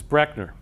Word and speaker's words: Brechner: mispronounced by almost everybody that's the way it's actually pronounced is brechner so if you take